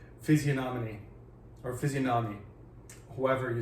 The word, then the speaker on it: physiognomy: Physiognomy. I don't think the G is pronounced. I think it's one of those silent Greek letters, like, pterodactyl.